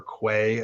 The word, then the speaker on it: Quay: stuff on you know key dot io or quay as you might pronounce it um there might be